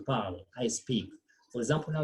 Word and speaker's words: parle: we did say that when a word ends with letter E or ES, then the E and ES are silent. That's why we say je parle, I speak.